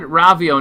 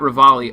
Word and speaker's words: Ravio: He said Ravio, not Rivali.